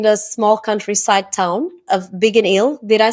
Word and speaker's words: Biggin Hill: So he grew up in the small countryside town of Biggin Hill. Did I say it properly? Biggin Hill, yeah. Biggin Hill in the UK.